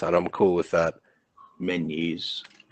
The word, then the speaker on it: Menzies: Menzies. We were told that it is like Genghis Khan. Okay. Now we were told it's pronounced like that.